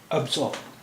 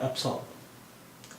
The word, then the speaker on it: absorb: ابزارب، ابزارب اس لفظ کے دو تلفظ ہیں، ابزارب اور ابسارب، ابزارب یا ابسارب۔ اس کے معنی ہوتے